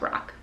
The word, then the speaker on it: Roc: I think it's just pronounced Roc.